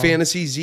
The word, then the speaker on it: Fantasyze: f-a-n-t-a-s-y-e-z-e y-z-e yes like so it's like fantasy ze you know what i'm